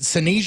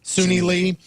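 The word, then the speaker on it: Suni Lee: joining her is uh is it senia is that how you say her name Le Sunni Sunni Lee uh Jordan childes Grace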